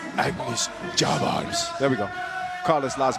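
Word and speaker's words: Agnis Čavars: Agnes Chavars.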